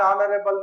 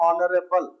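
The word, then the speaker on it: honorable: ಬರ್ತದೆ ಗೆಡಿ ಅಕ್ಕ ಸೌಡನರೆ ಆನರೇಬಲ್ ನಾಟ್ ಹನರಬಲ್ ಎಚ್ ಹ consonant but sound is Oval sound she ಇಸ್ on honest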